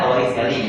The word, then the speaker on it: Torricelli: Bacanya Torricelli gitu aja ya.